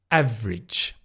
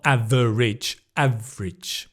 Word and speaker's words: average: that let's move on to the next one average not average The V again.